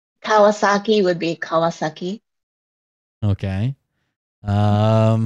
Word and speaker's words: Kawasaki: Suzuki would be in English someone said uh Kawasaki Kawasaki would be Kawasaki okay um hold on what